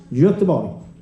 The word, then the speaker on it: Göteborg: the O in Gothenburg, when you pronounce it in Swedish, Göteborg.